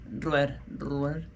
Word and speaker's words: Villarruel: Because there's a V at the front of it, so I want to say V, not B, but it's B. Yeah, that's how you pronounce it in Spanish. Villarruel.